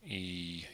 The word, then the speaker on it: Euler: E-U-L-E-R. And I think you actually say his name Euler.